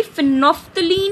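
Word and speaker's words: phenolphthalein: The very first is फिनोफ्थलीन indicator, इसमें एल जो है वो साइलेंट है, इट is known to बी फिनोफ्थलीन indicator and इट इज a very commonly use indicator in laboratory.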